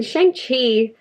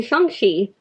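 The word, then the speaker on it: Shang-Chi: absolutely loved this so in shanghai or oh my god i'm saying the name wrong i'm so sorry in shangshi there we go that's better we're following shangji and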